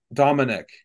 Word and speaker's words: Domenic: It's Italian vowels. Okay. Domenic. It's because my name is supposed to be Domenico.